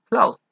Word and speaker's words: closed: Así como el ejemplo anterior, close termina sin vibración en las cuerdas vocales, así que la pronunciación será con T. Closed.